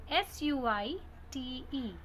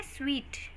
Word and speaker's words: suite: The fourth word is suite. Suit is incorrect pronunciation.